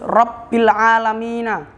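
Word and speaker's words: رب العالمين: terdapat di atas ba jadi kita membacanya harus harus rabbil AlaMina enggak boleh rabbil enggak boleh harus rabbil harus jelas dan tebal bnya itu harus kelihatan yang keenam arrahmani terdapat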